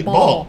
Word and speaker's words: ball: be a ll b ball bow okay what see a say o when an egg comes before an L or a double L it usually says o there are exceptions like